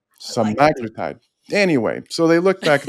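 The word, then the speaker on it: semaglutide: those who took seaglutide by itself people say semiglutide. It's actually saglitide. Nobody pronounces it correctly.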